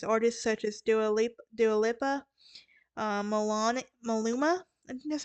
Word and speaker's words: Dua Lipa: up with celebrities artists such as Dua Lipa do a LIPA that's how you pronounce it are currently very close to Brand